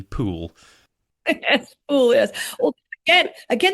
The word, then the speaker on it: Pole: my book um and although we often say Margaret pole it was actually pool yes po Yes again